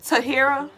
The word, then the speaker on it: Tahira: side of the finger Cosmic said it is pronounced tah here oh Tahira oh okay Tahira but you could call